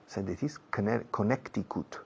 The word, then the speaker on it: Connecticut: He was born in Connecticut. Connecticut. Yeah, Connecticut. La C en medio no se pronuncia.